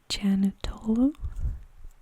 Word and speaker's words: Janatolo: let's talk about sheila her last name is janatolo that's how you pronounce it but sheila was recently